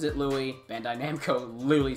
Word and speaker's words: Louis: more or less - most would look like Louis but he pronounces it Louie so don't get any crazy ideas people you pronounce it Louie bandai namco Louie said so other than that